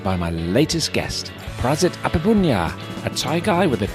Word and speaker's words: Aphiphunya: The Thai pronunciation is Aphiphunya. But most Europeans, ever since 10 years old, all my foreigner friends was always say Aphiphunya.